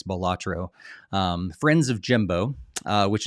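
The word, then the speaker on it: Balatro: we got B batro is that how you pronounce that they never talked about it they didn't actually say it in the the presentation so I'm going to guess here I think it's batro um friends of Jimbo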